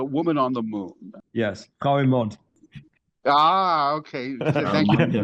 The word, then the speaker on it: Frau im Mond: the 20s directed a science fiction film called Fruit du Monde, The Woman on the Moon. Yes, Frau im Mond.